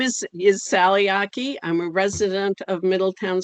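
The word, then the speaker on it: Achey: is a representative sally hickey i hope i pronounced that properly it's pronounced aki rhymes with hockey uh yeah my name is is sally aki i'm a resident of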